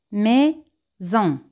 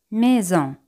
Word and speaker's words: maison: Casa en francés es maison. Maison. Generalmente la letra S se pronuncia con un sonido Z cuando va entre dos vocales.